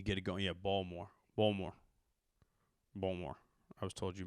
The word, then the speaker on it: Baltimore: Baltimore, I was told is how you pronounce it. It's almost like Louisville. You drop the T, you add a D, but it's a soft D. Impotent D in Baltimore.